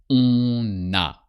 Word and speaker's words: on a: Elle a, il a, on a. So you pronounce the end of on when the following word starts with a vowel. On a.